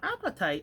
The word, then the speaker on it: apatite: clear about appetite blue now appetite is not spelled the way that appetite like you're hungry you have a good healthy appetite it's spelled a-p-a-t-i-t and so i'm pronouncing it that way but if anybody is